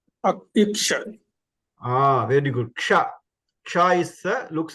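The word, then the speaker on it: क्ष: So ksha is a combination of k, sh, and a. So when you add all these things, so when you pronounce, we have to remember this k, sh, a, ksha.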